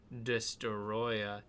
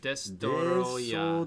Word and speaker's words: Destoroyah: Yeah, so this is the movie Godzilla versus Destoroyah. Destoroyah. Yeah. Is that how you say it? Destoroyah.